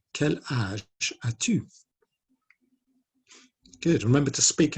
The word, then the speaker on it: âge: a little hat on the A, and it's pronounced âge. Quel âge as-tu?